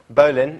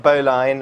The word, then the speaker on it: Bowline: Um and it's actually pronounced um Bolan not boline or bow line but to be honest I've given up now.